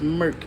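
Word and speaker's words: Merck: Merc and Co I I keep on saying Mer but it's Merc and Co I don't know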